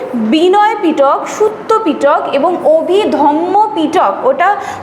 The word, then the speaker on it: অভিধম্ম: বিনয় পিটক সুত্য পিটক এবং অভিধম্ম পিটক ওটা যে উচ্চারণটা আছে অভিধম্য অনেকেই কিন্তু সেটাকে অভিধর্ম বলে। অভিধর্ম কিন্তু নয়।